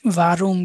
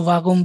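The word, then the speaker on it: warum: কিছু ভারুম কিছু ভাগুম বলেন, তাহলে এইটাতে আবার সমস্যা। যে কোনো একটা অ্যাকসেন্ট ইউজ করবেন। আরটাকে রর মতো উচ্চারণ করতে পারেন, কোনো সমস্যা নাই।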